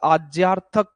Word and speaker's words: आज्ञा: अथक वर्तमान होता है वैसे आज्या इसका शुद्ध उच्चारण है तो आज्या वर्तमान काल